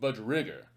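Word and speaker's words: budgerigar: bird it actually is short for budgeriger or i have also heard it pronounced budge rigger perhaps depending upon where you are from but most of you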